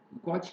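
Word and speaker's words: gauche: This conformer is called Gauge conformer, or sometimes it pronounced as Guiche conformer.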